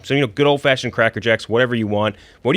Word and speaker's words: Cracker Jack: I think it's just Cracker Jack singular, which uh I don't love. Double mispronunciation to start. No S. There's no S. Cracker Jack. Cracker Jack.